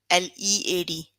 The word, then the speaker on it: lead: in the dictionary entry lead l-e-a-d but you pronounce l double e d you don't pronounce a it would be lead so you have to